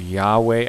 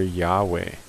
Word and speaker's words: Yahweh: pronounced that yah we with an emphasis on the we stress is given on the we yah we which I